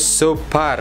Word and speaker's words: Xoopar: Dibacanya Super ya.